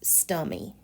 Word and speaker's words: stomy: Stomy. Although it can be pronounced stummy.